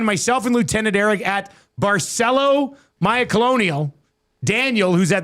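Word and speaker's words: Barceló: Join myself and Lieutenant Eric at Barcelo Maya Colonial. Daniel who's at the Nasty Bash says we were saying it wrong. It's not Barello, it's Barcelo. Barcelo Mile Colonial in Mexico from February 24th to March 3rd.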